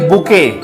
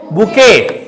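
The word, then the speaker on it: bouquet: word में क्या कहेंगे बुके इस टी से मत जाइएगा कि टीको बोलना इसमें टी वर्ड साइलेंट है ठीक है हम लोग इसको क्या पढ़ेंगे बुके है ना बुके में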